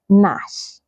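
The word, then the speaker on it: gnash: before the letter N you can find them in words like Nash Nash Nal Nal not g so you can see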